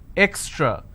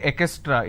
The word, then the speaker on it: extra: Distance, extra. A lot of people mispronounce this word extra. They say ekestra. It's not ekestra.